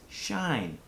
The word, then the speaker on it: shine: a look at is shine shine has a long I helped by magic silent e our next sentence is